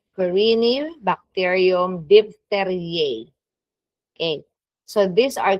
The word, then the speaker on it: Corynebacterium: So we have Corynebacterium, that's how you pronounce, Corynebacterium diphtheriae.